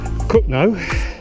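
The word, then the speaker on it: Cogenhoe: It goes to Cookno. Yeah, that's how it's spelled.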